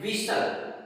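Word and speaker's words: whistle: Next हम बात करते हैं विशल। विशल में भी देखो टी साइलेंट है।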